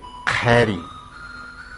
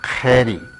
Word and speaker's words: kheri: Ese fogón en aymara se dice kheri, kheri. Sonido particular, khe, khe. Como ustedes podrán advertir, toda vez que aparece la Q, después la H y la I se pronuncia como E, como khe, de kheri.